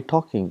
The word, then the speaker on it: talking: in English we CAU for example talking we say talking but when you write we write L tall King but we don't pronounce l exactly the same way